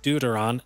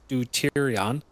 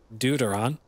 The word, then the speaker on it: deuteron: of deuteron fuel rods it is pronounced deuteron not deuterion deuteron so that was my